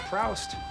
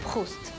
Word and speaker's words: Proust: Well, look, it's not Proust. It's pronounced Proust.